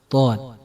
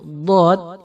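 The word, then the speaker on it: ض: Nah, kesalahan biasanya huruf dhad ini tidak dibaca dari pinggir lidah, tapi dibaca dari ujung lidah.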